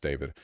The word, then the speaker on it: D4VD: Pronounced David. Of course it's pronounced David.